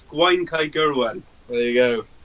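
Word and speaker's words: Gwaun-Cae-Gurwen: Oh my God, I would not pronounce that. Whatever it. Well, I'll say it. It's Gwaun Kai Gyrwen. There you go. Gwaun Kai Gyrwen.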